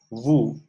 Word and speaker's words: vous: We do not pronounce the S of nous and S of vous. Okay, so for the second person plural, it is vous.